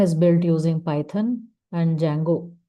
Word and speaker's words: Django: Instagram is built using Python and Django. D is silent here.